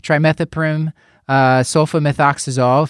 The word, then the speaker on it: trimethoprim sulfamethoxazole: and he had been started on trim sofa trimethoprim sulfamethoxazole that's how you say it three days ago